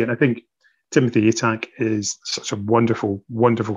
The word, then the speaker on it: Atack: Was it Timothy X Attack? Is that how you pronounce it? Timothy X Atack.